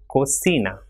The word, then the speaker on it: cocina: Same way, CERRAR will be pronounced as cerrar, and with I it will also be pronounced with the same sound. For example, CI will be C. So cine, ciclo, or cocina.